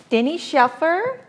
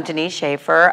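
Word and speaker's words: Denice Schafer: and share their wonderful stories today i invited dennis shaffer a sales education executive of amore pacific how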